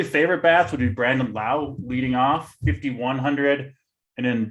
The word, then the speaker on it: Lowe: answer there holden yeah just brandon lau and everyone else is a low okay i i won't